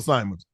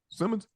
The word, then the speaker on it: Simmons: Simmons he nice Simmons do you pronounce it Simmons or Simons Simmons Jeff s Jeffrey Simmons